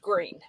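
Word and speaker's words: Gruene: It's spelled uh it's spelled gruin like as in green in German, but it's pronounced green.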